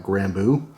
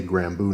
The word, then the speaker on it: Grambeau: maker um and I want to say it's uh granbu I hope I'm not mispronouncing that but you guys know me I mispronounce everything so it's possible so it's right on top there g-r-a-m-b-e-a-u so I'm gonna say gramboo knives this is the aceto